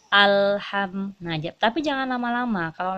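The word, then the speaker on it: الحمد: terlanjutkan alhamdulillah di sini ada lam sukun langsung pun itu sifatnya ditekan jadi ada tekanan sedikit ketika kita membacanya alham mengajak tapi jangan lama-lama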